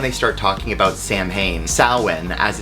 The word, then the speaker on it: Samhain: Samhain, as it's actually pronounced, but Samhain, the Celtic festival, the Day of the Dead, the ending of the harvest.